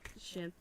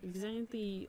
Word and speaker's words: Xanthe: and then you've got Xianthe. X what? Xianthe. I-A-N. So I was like, I don't want to say her name wrong. Yeah, so I was like, I want to say like Xanthe, like Hyun.